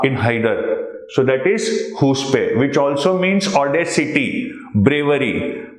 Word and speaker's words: chutzpah: Incorrectly pronounced by Shahid Kapoor as chutzpah in Haider. So that is huspe, which also means audacity, bravery.